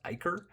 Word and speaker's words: ichor: I've only ever heard this pronounced Icarid, but actually I was thinking about it because ICHOR, that word is pronounced Iker.